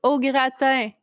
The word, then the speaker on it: au gratin: It's pronounced au gratin.